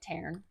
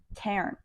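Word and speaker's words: Tairn: she does with t that's how they say it in the Audio I think that's what it is but my phonetically my mouth doesn't audio book they say Taran Taran okay so with Taran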